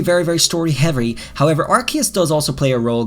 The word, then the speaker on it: Arceus: trailers called it arceus i used to call it archaeous i changed it because that's what they say the official sources arceus okay i know there's a lot of debate in the community about how you say it and this is obviously arseis as some people say but that's translated from japanese that doesn't work all right it's arceus so guys this is